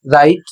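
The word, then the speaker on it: write: यहां पर लिखा है डब्ल्यू आर आई टी ई। और इसमें डब्ल्यू और आर दोनों शब्द में आया हुआ है। और इसमें डब्ल्यू साइलेंट हो जाएगा। इसको पढ़ा जाएगा राइट।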